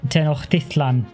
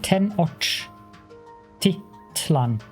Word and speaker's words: Tenochtitlan: And I had him say Tenochtitlan to me once, and I probably butchered that completely already in just my pronunciation there.